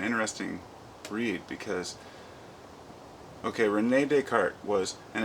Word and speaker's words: Descartes: was it's an interesting read because okay Renee deart was and it's spelled Descartes for those who don't know d